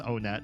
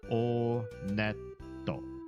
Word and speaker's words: Onet: It is pronounced Onet. I did check the Japanese pronunciation. And in Japanese, when you go to this first town, they pronounce it Oneto.